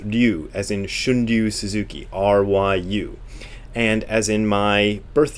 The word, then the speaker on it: ryu: as in Shunryu Suzuki, R-Y-U. And as in my birth year, I'm born the year of the dragon, Ryu. So R-Y-U is pronounced ryu.